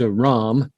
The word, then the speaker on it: Ram: comfortable with it's pronounced a ram a ram as if it were ROM but it's spelled r